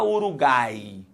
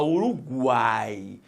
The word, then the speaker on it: Uruguai: pronunciado será uma semivogal você não fala ouro Guy possuia Uruguai e não você fala Uruguai então se você falou